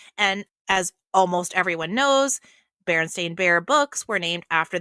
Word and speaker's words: Berenstain: in that moment that if it had been EIN, we probably would have pronounced it Berenstein. So I went with the stain. Okay, fair enough. Fair enough. And as almost everyone knows, Berenstain Bear books were named